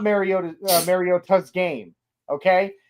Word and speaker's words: Mariota: Apparently, according I don't know if you watch Good Morning Football, apparently Manti Manteo confirmed it is supposed to be pronounced Mariota.